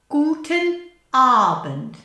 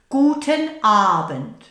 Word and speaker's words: Guten Abend: Guten Abend. Now a long A and a short bend. Guten Abend.